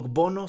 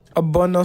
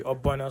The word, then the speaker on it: Obono: Bono soup. Obono soup. So that's how it's pronounced actually. Obono soup.